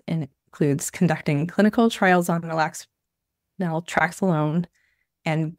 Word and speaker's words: naltrexone: Can you help me pronounce that one? Yeah, it's naltrexone and buprenorphine.